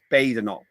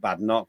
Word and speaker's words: Badenoch: It's Badenoch, not Badenoch. 1D, it's a pedantic point, but why is it not pedantic on that basis?